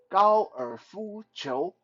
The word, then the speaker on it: 高尔夫球: So in Mandarin, golf is called 高尔夫球. 高尔夫球. So it's very simple. 高尔夫, basically just how you pronounce golf in Mandarin.